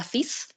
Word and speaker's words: fille: The word for girl is fille. You don't pronounce the L's.